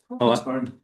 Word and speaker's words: Crawfordsburn: He's originally from Crawfordsburn. Is that how you say it? Yeah. Crawfordsburn, in Northern Ireland.